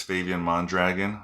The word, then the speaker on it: Favian Mondragon: hi my name is fabian mondragon fabian mondragon espanol people also call me fabian which is very close to the pronunciation in spanish um you can call